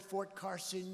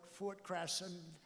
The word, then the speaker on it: Carson: You don't like to mispronounce a word, like you come to a great place like this, and instead of calling it Fort Carson, you call it Fort Crasson.